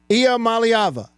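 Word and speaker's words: Iamaleava: do my best Nico I malava niik malava malava say it with me Nik malava here is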